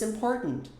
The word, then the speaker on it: important: Esse T aqui é engolido lá no fundo da garganta. Important. Como se fosse um golpe de glote que você dá aqui.